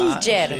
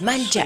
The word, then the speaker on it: Malger: Malger. Sí, Suena sí, así como francés, Malger.